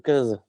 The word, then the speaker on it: Cazès: Alors, ça s'écrit Cazès, mais on dit Caz. Juste pour que les gens sachent, quand ils me cherchent, il faut qu'ils cherchent sur Cazès. Mais à la rencontre, c'est Caz.